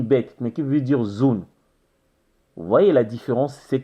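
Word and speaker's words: zoon: Cela pourra se prononcer zone. Z-2-O-N. Comment faut-il prononcer cela? Zone, zone.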